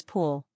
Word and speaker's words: pool: The spelling is easy, but the pronunciation is pool. Don't confuse it with pull.